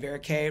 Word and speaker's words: Verocay: a varicay body and Vera K rhymes with a so that's how I